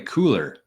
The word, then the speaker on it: Cooler: this company I think I call it curl curl cure but it is apparently cooler cooler so let's let's watch